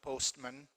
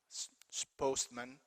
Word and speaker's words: postman: same word postman postman postman postman you could hit that post man just postman that is not pronounced or windmill windmill windmill